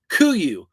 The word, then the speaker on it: Kuru: I just listened to the founder of Kuru. They pronounced it Kuyu.